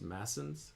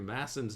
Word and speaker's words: Masson: went through somebody called I said Masons it's actually probably pronounced massons it's spelled m SS o n apostrophe s uh or sorry M SS o n he went through masson's notes on books two